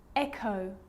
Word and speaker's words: echo: g or r now most of the time ch is pronounced ch but on small occasions or rare occasions it's not pronounced the h is silent so it's choir choir echo echo with a g ghost ghost and with an r rhythm or rhyme good news the i